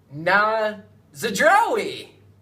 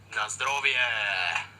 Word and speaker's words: Na zdrowie: Kiefer can correctly pronounce these phrases. Na zdrowie. Not even close. The first one meant cheers, and here's how you pronounce it. Na zdrowie.